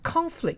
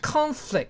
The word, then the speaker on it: conflict: 同学才高一呢，好，conflict 这个字听听看发音 Conflict. ，conflict 这个字当名词用，